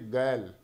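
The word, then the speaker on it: girl: लिखा है यहाँ पे, इसको क्या बोलते हो आप? ग्रल बोलते हो, ग्रल ही बोलते हो ना। इसको सही करेक्ट प्रोनाउंसिएशन होती है इसकी गैल।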